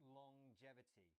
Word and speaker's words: longevity: It's a little bit strange. It's longevity. So we have the at the end of long as normal, but then there's this j sound as well.